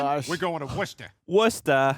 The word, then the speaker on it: Worcester: Worcester. Wista. Where do all those syllables go?